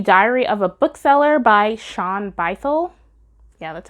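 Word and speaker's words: Shaun Bythell: Laura Bates the Diary of a bookseller by Sean bycel yeah that's how you say it misty Copeland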